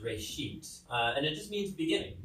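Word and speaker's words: רֵאשִׁית: Genesis comes from a Hebrew word, it's pronounced reshit, and it just means beginning.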